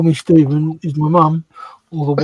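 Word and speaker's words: Stephen: one I think and we've been joined by stevenh Castle saying hello fellow modelers from Marysville Washington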